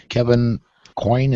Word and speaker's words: Coyne: Kevin Coyne, is that how it's pronounced?